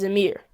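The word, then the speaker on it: Ameer: My first name is Amer.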